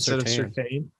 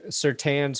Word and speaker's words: Surtain: I think at some point in Patrick Surtain's family, they started pronouncing their own last name incorrectly. Yeah. Otherwise, why is the I there?